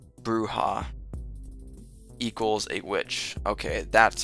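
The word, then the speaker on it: bruja: Um Jen says bruha equals a witch. Okay, that's how you pronounce it. Bruha, not brea.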